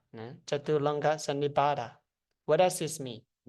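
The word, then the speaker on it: Chaturanga Sannipata: It's pronounced Chaturanga Sannibhata. Chaturanga Sannibhata.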